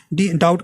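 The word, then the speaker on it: doubt: तो साइलेंट रहता है जैसे डाउट का बी नहीं आ रहा है ना वैसे साइकोलॉजी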